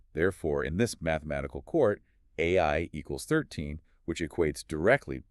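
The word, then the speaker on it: 愛: He points out that the Japanese kanji for love is literally pronounced AI.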